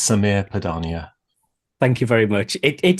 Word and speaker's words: Sameer Padania: And by the end of the conversation, I promise I'll have learned how to pronounce it. Well, that's quite all right, Rob Watson. It's Samir Padania.